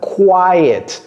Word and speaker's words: quiet: person quelqu'un de calme quiet qui vous voyez comment j'ai prononcé c'est comme s'il y avait un y ici qu a quiet person